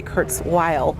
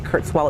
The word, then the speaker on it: Kurzweil: I'm glad you brought up Ray Kurzweil. I want to make sure I pronounce his name, because I think a lot of people say Kurzweil. It's Kurzweil, I believe.